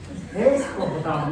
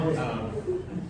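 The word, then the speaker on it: Escohotado: Escojotado, no descojotado.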